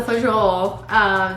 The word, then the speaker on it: fagioli: Pasta fagioli.